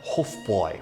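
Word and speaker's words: Hofbräu: World War One when the empire was dissolved Hofbrau I understand in German is pronounced something like hofboy which is something that a couple of my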